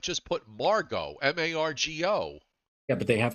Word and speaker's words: Margot: so they're calling it Margot no t all right I stand corrected no T it's Margo one nice thing about